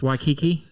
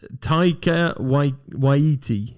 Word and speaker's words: Taika Waititi: Waikiki. Taika Waititi.